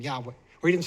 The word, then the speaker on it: Yahweh: Matter of fact, he said because modern Hebrew does not have a W sound, does not have a wah sound, it doesn't have that. He says it's hard for him and many other Jews to actually make a W sound. They don't have a W sound. It's a V sound. But his wife, being Yemenite, she has retained that W sound. So he says, not only is it right, Yahweh, and again, this guy, he's an archaeologist.